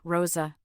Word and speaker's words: Rosa: She introduced another alter ego, Rosa, pronounced with an exaggerated R, to commemorate her December 2010 appearance on Lopez Tonight.